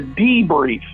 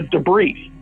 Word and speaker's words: Debrief: that pronounced the e he would say it's chris from the d brief and for some reason i don't know i would always say the debris but that's a really critical point of the conversation here if we don't get past this there's no interview okay the brief will be pronounced correctly from this point forward it's the